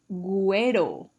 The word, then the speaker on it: güero: In Mexico, they say güero or güera. Güero. Remember that U has the diéresis, so you need to pronounce it.